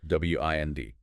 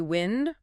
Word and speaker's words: wind: W I N D can be wind rhyming with send. That's the noun. Moving air. Or wind rhyming with find. That's the verb meaning to turn or coil something like winding a clock or a string.